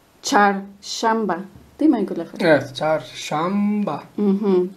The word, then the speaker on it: Çarşamba: Aquí, amigos, está la Che y la She. Ahí por Facebook me preguntaron que querían saber la diferencia de la pronunciación. La Che es como la de chocolate, la Che de nosotros que tenemos en español. Y la She es como el sh de silencio. Sh. Charshamba.